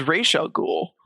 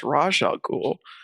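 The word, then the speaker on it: Ra's al Ghul: Arkham was because racial ghoul is actually supposed to be pronounced rajal ghoul as in pron because it's Arabic for head of the demon or the demon's head.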